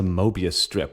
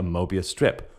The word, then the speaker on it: Möbius: well a meria strip it's actually spelled with an umlout m o with the umlout b i u s I'm going to say mobus for the rest of this episode but uh let's let's